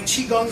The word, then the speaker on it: chi kung: way it is every so I created my chiong system and it's spelled c h i k u n g